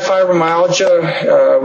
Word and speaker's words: fibromyalgia: Fibromyalgia, how do you pronounce that thing? Fibromyalgia.